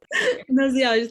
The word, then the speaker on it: gnoseology: I'm going to mispronounce this, I'm so sorry. Nina, do you want to say it? Gnosolology, thank you, Natalia.